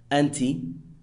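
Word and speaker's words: أنتِ: You, pronounced anta or anti.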